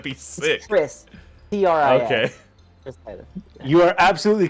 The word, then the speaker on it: triskaidekaphobia: So, Yes, it's triskaidekaphobia. It's like now I'm questioning that last syllable I put in No, before no, I phobia, think but it's you're right.